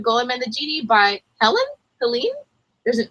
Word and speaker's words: Helene: looked this Helen wer heleny it's definitely not heleny that's the wrong way to pronounce Helen Helen are you gonna